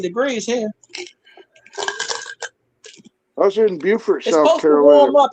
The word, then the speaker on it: Beaufort: Beauford, period. Like Sanford and Son. Spelt the same, pronounced different.